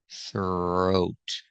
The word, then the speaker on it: throat: Pronunciation for throat, use the TH with no voice plus the R sound. Thur, thur. Practice this sound. It's very difficult. Thur, throat. It's a long O like no and go.